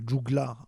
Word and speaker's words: joglar: il a un juglar, alors ça s'écrit joglar, on le prononce juglar en occitan, qui a donné le